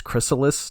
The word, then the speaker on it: chrysalis: My favorite part of this one is he, the way he pronounces chrysalis to rhyme with callus.